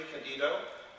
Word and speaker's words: DiCandido: DiCandido. Is that how you pronounce it?